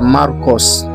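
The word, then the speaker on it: Μάρκος: Jina la Marko kwa Kigereki tunaita Markos na kwa kilatini inatamkwa Markus.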